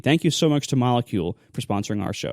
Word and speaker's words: Molekule: it's spelled like the word but switch out the C for a k so m o l e k l e molecule with a K that's molecule.